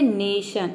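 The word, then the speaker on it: nation: सन example देखते हैं नेशन यहां पे देखिए एन का हो जाएगा न ए का हो जाएगा ए और टी आई ओ एन का हो जाएगा शन ये पूरा हो जाएगा नेशन नेशन का मतलब होता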